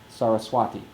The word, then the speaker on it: Saraswati: So Saraswati is a good example of proper pronunciation because I'm sure we've all heard Saraswati. Exactly. It's pronounced Saraswati. The only accent is on the long vowel at the end.